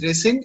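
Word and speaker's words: rescind: called resend okay okay it's pronounced as resend and it means cancel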